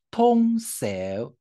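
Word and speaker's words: 洞箫: 通通箫，通箫哈。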